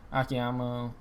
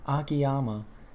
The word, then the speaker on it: Akiyama: to retain oh my gosh i cannot speak akiyama oh my god i just mispronounced it twice akiyama and anui uh defeating saito and segura hanma